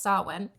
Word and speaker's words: Samhain: have um it looks like some pain it's pronounced saw one other names for it that that's the Celtic